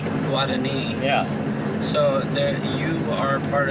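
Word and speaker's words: Guaraní: The Guarani one was going to be harder.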